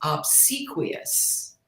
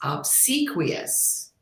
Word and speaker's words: obsequious: word your words quidd proquo my word is obsequious what a good one no I have not heard of that let me spell it OB BS e Qi o u s obsequious and it means someone that's eager to to